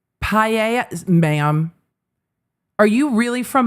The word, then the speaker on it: paella: I'm not sure if that's how you pronounce it at the party. It's pronounced paella.